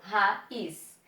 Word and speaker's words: raiz: Raiz. Sílaba mais forte. Is. O I está formando hiato numa sílaba sozinho?